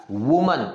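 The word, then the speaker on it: women: ಜನ ಮಾಡ್ತಾರೆ ಅದನ್ನ ಹೇಳಿಕೊಟ್ಬಿಡ್ತೀನಿ ಸಿಂಗುಲರ್ ಇದ್ರೆ ಇದನ್ನ ವುಮನ್ ಹೂ ಅನ್ನುವಂತಹ ಸೌಂಡ್ ಬರುತ್ತೆ ವುಮನ್ ಅಂತ ಹೇಳಿ ಸೋ ಅದೇ ಒಂದು ಬಹುವಚನ ಇದ್ರೆ ವುಮೆನ್ ವಿ ಅಂತ ಉಚ್ಚಾರ ಮಾಡ್ತೀವಿ ವುಮೆನ್ ಅಂತ ನಾವು ಇದನ್ನ ಹೇಳ್ತೀವಿ ಸೋ ಈಗ ನೋಡಿ ವುಮೆನ್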